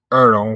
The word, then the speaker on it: earl: live or your accent you can pronounce it erl with an e or your own with a j in law he was